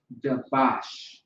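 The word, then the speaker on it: דבש: All right, so the word is dabash. So the Hebrew word for honey is dabash. Dabash. Okay? Very interesting because it sounds like Qadash, which is holy.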